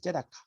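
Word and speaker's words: צדקה: 요것을 읽는 것은요. 째다카입니다. 째다카. 맨 왼쪽에 있는 글자는 이건 발음을 안 하는 거예요. 원래 그 히브리어는요. 오른쪽에서부터 왼쪽으로 글자를 읽어가는 거예요. 우리 한글하고는 상황이 달라요. 째다카입니다. 째다카.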